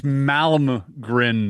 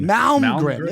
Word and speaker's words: Malmgren: It's Malmgren. Malmgren.